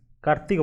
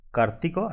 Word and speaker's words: Kartika: One is Kumara Purnima and another is Kartika Purnima. Based on the pronunciation in Odisha, I am using the words like Kartika and Kumara. So you can think it like Kartik and Kumar.